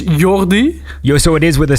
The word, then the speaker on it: Jordi: It's Jordi.